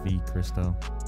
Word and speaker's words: Vchristo: been called chris uh everyone skips the v but it's v christo i'll explain that more